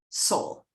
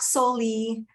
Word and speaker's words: Solle: it's uh best way it's correct pronunciation is soul like your soul so not solely uh not any other